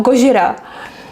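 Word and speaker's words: ゴジラ: it in English Godzilla I like to pronounce it like in Japan Japanese you know Gojira and yeah but I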